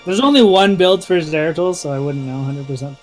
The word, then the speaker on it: Zeratul: only one builds for zeratul so i wouldn't know 100 yeah it's not zero total grade looks like i